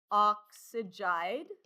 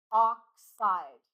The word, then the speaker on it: oxide: It is not oxyg. You do not want three syllables. You only want two syllables. Oxide.